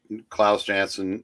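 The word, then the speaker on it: Klaus Janson: on the Defenders when I started reading I Claus jansson J how you pronounce it yep was the anchor on that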